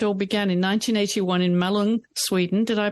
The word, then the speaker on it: Malung: Well, let's go back to where it all began in 1981 in Malung, Sweden. Did I pronounce that correctly? Malung, yeah.